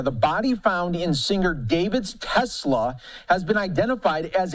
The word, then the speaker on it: D4vd: to see Dor Dorvid then they came out and said the boy just pronounced it David I'm like first of